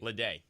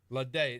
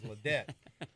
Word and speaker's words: Laday: Is it Ladette or Laday? Laday. Laday.